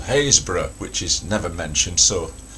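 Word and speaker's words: Happisburgh: I happen to have been there and I happen to know it's called Hayesbor which is never mentioned. So if you do read this book you can silently pronounce it correctly in your head.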